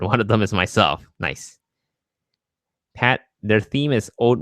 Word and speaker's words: Nice: I saw nice, and I was like, what the hell, nice? Nice France. What's nice France? But apparently it's Nice.